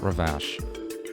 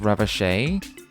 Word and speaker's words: Ravache: It's pronounced Ravache? Okay. I wondered and I settled on Ravash because it looked kind of Frenchy. A very Frenchish looking word. I can go with Ravache.